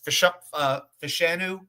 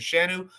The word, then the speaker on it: Fashanu: 4 tackles, Fashanu, that's how you pronounce it, Fashanu, Armand Membu, obvious, Chukwuma Okorafor, even though he